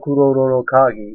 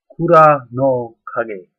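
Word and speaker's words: Kura no kagi: Now, the thing is, what is being called Kuroro Kagi is actually more correctly pronounced Kura no kage. Kura, K-U-R-A, no, N-O, kage, K-A-G-I, not kage, like shadow, but kage, key.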